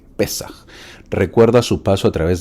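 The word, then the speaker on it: Pésaj: Y es que el pueblo judío en la fiesta de la Pascua o del Pesaj, así como suena, Pesaj, o Pesaj, aunque lleva tilde en la E, Pesaj, recuerda su paso a través del Mar Rojo.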